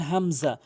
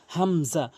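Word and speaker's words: همزة: এরপরে হামজা। হামজা। অধিকশল হামজা জবর আ। আইনের উচ্চারণ করে ফেলে মারাত্মক লেভেলের ভুল করে থাকে। আপনি হামজাটি হলকের শুরু থেকে উচ্চারণ করবেন।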